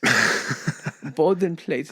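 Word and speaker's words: Bodenplatte: plate um base plate bden plate is how you say it in German and the LOF had some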